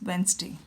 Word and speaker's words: Wednesday: For example, Wednesday is pronounced as Wednesday.